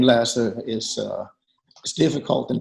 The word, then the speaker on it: Lasse: in in the US it's a Danish name that has certain vowels in it that the American ear can't really hear so I'm used to almost any pronunciation and that's fine short of Lassie yeah that's that's that's